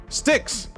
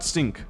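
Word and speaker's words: Styx: Sticks, not stink, sticks.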